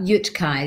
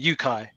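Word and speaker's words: UTCAI: it without we we we call it a silent t so we call it yookai if you didn't know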